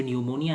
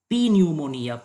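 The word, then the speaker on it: pneumonia: यहाँ पे जो न्यूमोनिया है, यहाँ पे भले ही पी स्पेलिंग में है, लेकिन इसका प्रोनाउंसिएशन में पी का कोई पार्ट ही नहीं है, इसका उच्चारण है न्यूमोनिया। बिल्कुल हम लोग इसको पी न्यूमोनिया, पन्यूमोनिया ऐसे नहीं बोलते, इसको न्यूमोनिया बोला जाता है।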